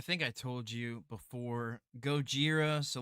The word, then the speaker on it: Gojira: I watched the original subtitled, so it's Oh, not so like the you watch American version, the Gojira.